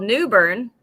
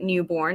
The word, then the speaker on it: New Bern: know commissioner i live in a town called new bern but it's spelled newborn but nobody pronounces it newborn it's newbern yeah i was in i was